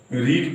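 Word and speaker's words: read: मैं किताब पढ़वा रहा था, आई was getting, a book, रीड का रीड, रेड स्पेलिंग वही रहता है।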